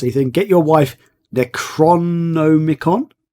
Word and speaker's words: Necronomicon: Okay, I'm not going to be able to pronounce this because I can never pronounce anything. Get your wife Necronomicon? Necronomicon.